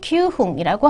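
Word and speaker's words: 九分: 쿠지 큐흥이라고 하셔야 합니다. 어, 뭐 큐지구 이렇게는 쓰시면 안 되고요. 쿠지 큐흥 기억하시면 되겠습니다.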